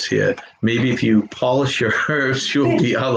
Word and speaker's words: Polish: Job, polish, and herb are all pronounced different when the first letter is capitalized, because now you're Job, Polish, and herb.